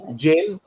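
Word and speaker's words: Jael: killed sasera okay who killed sisera first option jail okay jail or jail g it's spelled as j-a-e-l that's your first option second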